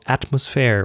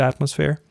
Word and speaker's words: Atmosfair: So I was really happy when I recently found that company called Atmosphere, which is a German company. It's spelled ATMOSFAIR, and they cater to individuals.